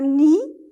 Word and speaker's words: nid: Faites attention, le D à la fin ne se prononce pas. Un nid, un mur, un domino poli.